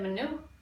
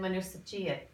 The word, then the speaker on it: មនុស្សជាតិ: We always said manu in school. But now Crystal properly said manu sachiat. Okay, so when a final silent jung is in a compound word, it's going to be pronounced.